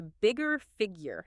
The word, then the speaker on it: Bigga Figga: Let's nail the pronunciation right off the bat based on what we found. It's JT, the bigger figure, not figure, right?